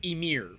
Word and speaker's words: Ymir: keep it from shaking bob says it is pronounced emir yeah that's what i just said yeah it's